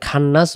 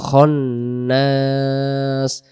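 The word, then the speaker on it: الخناس: মিনশাররিল বলা যাবে না এখানে খান্নাস বলা যাবে না উচ্চারণ হবে খনাস আবার ম্যাক্সিমাম মানুষ যে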